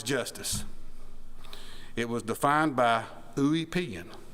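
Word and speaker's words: Ulpian: and what is Justice it was defined by ouan spelled u l p i a n thanks to Google for the pronunciation a great Roman legal author centuries ago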